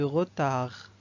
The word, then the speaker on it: retard: Et on a le D de retard. On ne prononce pas le D, donc c'est une lettre muette.